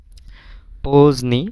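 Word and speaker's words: поздний: যে দে এন ইকরাকা এখানে দে এর উচ্চারণটা কিন্তু হচ্ছে না দে এর উচ্চারণটা হচ্ছে না কেন হচ্ছে তার কারণ আছে।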